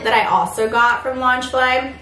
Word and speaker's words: Loungefly: got from launch fly i really hope i'm saying that right lunch i kind of looked up to see if i could find how to say it properly i don't want to say it incorrectly but that's what i i think it sounds like launch fly anyways i got this